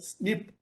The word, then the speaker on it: SNP: single nucleotide polymorphism or snp smb is usually pronounced as snip and snps are substrates